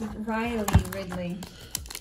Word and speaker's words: Riley Ridley: It's Riley Ridley.